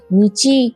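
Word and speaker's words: 日: এর উচ্চারণ নিচি বা হি হয়। কখন নিচি উচ্চারণ করতে হবে আর কখন হি, সেটা আস্তে আস্তে অভ্যেস হয়ে যাবে। সাধারণভাবে বলা যায় যে নির্দিষ্ট কোনো দিন বোঝাতে হি উচ্চারণ করা হয়, আর দিন গণনা করার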